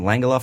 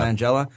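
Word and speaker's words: Langella: can't I believe he pronounced his last name langala Frank langala or langela is it langela yeah langela his portrayal of Skeletor especially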